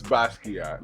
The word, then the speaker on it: Basquiat: It's Basquiat. Basquiat.